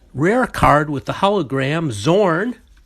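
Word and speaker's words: Xorn: card with the hologram zorn i'm assume that the x is pronounced like a z in english oh and then we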